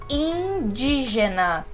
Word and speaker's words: indígena: Com o in, ele vai aparecer como im ou in. Por exemplo, imposto, imposto e indígena, in. Vocês já devem ter percebido que para fazer esse em e esse in, eu sorri para fazer esse som.